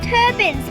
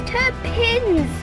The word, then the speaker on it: Turpins: he pronounced it as Turbans But it was Turpins With a "P" He kept pronouncing it with a "B" Grrrr, I'll get you Dad!